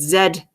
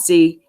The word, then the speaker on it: zed: case you didn't know we pronounce it Zed not C anyway what I'm taking